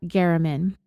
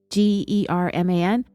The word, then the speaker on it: German: A journalist for the paper named Jeff German. His name is spelled like German, German, but it's pronounced German.